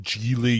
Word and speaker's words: Gigli: here it's actually pronounced geely you know it's uh sort of like uh really also rhymes with wheelie i don't think no